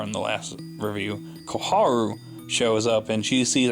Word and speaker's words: Koharu: yeah I like this scene here and I Koharu I'm just gonna pronouncing it right because I called her car on the last River you Koharu shows up and she sees a shot dead